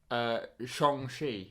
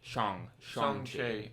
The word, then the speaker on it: Shang-Chi: The whole scene in the film where he goes, oh no, it's Sean, like Sean, because his name in the UK or in America where it's Sean.